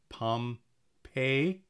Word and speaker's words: Pompeii: pump Pompeii I and he replied when I suggested he called it Palm pay with the accent on the pay end of it Pompeii I must have